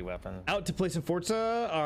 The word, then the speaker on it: Forza: year from ign so i really hate how you pronounce that forza i know it's the correct way i still hate it